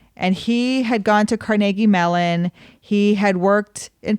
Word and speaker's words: Carnegie: we always talk about pittsburghers call it Carnegie melon it's not Carnegie melon it's Carnegie yeah I remember the first